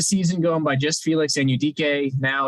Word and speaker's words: Anudike: I believe it is Felix Anudike-Uzomah. Is Uzomah, okay. I believe that's how his parents pronounce his name. He started the season going by just Felix Anudike.